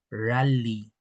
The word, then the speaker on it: rali: Y aquí tenemos la pluralización del concepto rally. Rally. Ojo con esta letra L, que no es la L que solemos hacer.